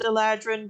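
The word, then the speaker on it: eladrin: a creature static uh eledrin i know i know technically it's pronounced eladran but i don't care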